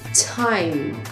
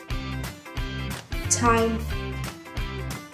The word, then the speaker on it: time: Rất nhiều người Việt cũng sẽ mắc lỗi sai này, đó chính là không phát âm endings khi endings của nó là âm hoặc là âm Và bây giờ chúng ta cùng nhau so sánh xem giữa việc bật endings và và không bật thì sẽ khác nhau như thế nào nhé.